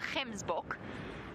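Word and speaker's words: gemsbok: just by the way we call him Kim's book g e m s b o k book that hard G and Africans and they are they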